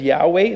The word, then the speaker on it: Yahweh: or four letters y h w uh we pronounce it as Yahweh that is God's name this is an attribute